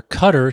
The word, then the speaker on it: Qatar: In Qatar, also known as Qatar or Cutter to Americans, a popular style is the Cobra.